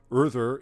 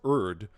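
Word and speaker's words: Urðr: Urther is often anglicized as Urd, which isn't too far from the first syllable of Erdtree, and in Japanese, the R and L sounds are interchangeable, so it could also be read as Uld.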